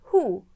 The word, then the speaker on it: who: Then the H took revenge in the word who, and that is why we do not pronounce the W in that case.